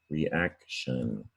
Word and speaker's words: reaction: you have a noun reaction and again t-i-o-n is not pronounced the way it looks we pronounce it in english sun or shin depending where you live reaction that's it for today